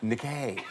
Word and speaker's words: Nike: Oh, yes, it is the famous footwear and sports manufacturer, Nike. And who were they using? Whose name do you want to try to pronounce in case it's wrong?